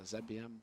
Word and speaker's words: zbm: It's pronounced ZBM. We're in Europe here.